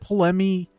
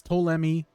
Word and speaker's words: Ptolemy: Yeah, people say his name differently. She said Polemy. He introduces himself as Ptolemy.